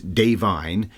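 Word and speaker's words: Da'Vine: So Davine, we said it wrong in the preview show, not Divine, it's Davine, Joy Randolph, won Best Supporting Actress.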